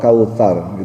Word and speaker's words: Kautsar: dibacanya u bukan o Kal Kautsar itu pakainya tsa Bukan sa ta tsa itu ujung lidahnya di sedikit di gigit taa ujung lidahnya sedikit-dikit ya Ta Kautsar jadi ada tsa ada sa ada sya